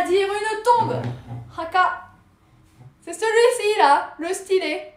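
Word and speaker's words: 墓: Eh bien écoutez, chose voulue, chose due, je vous l'offre, c'est cadeau, ça se dit Haka. Haka, ça s'écrit comme ça.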